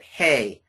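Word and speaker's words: ἡ: So the way that we pronounce this word is not O, but ha, ha, okay? And then this word is hey, not A, but hey, because of that rough breathing.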